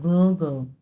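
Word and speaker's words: 哥哥: 哥哥 হ্যাঁ, গয়ের 哥 উচ্চারণ কিন্তু গো গো।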